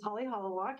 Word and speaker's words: Holly Hok: aloha my name is Holly hok you pronounce it perfectly the founder of pooki